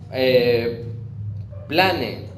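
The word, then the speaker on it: πλάνη: Esa palabra error es plane, es decir, con acento en la A, y el cual indica fraude, error, engaño.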